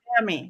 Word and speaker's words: athame: Athame, which is actually the correct way to pronounce it because that's how they pronounced it in England.